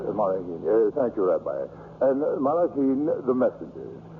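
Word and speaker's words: מַלְאָכִים: Gedushim, the holy ones, and how do you pronounce it? Malachim. Malachim.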